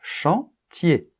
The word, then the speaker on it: chantier: c'est le même phénomène on ne prononce pas la lettre R chantier d'accord et ensuite une